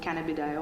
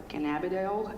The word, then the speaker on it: cannabidiol: the plant that is called cannabidiol, or cannabidiol, as you wish to pronounce it.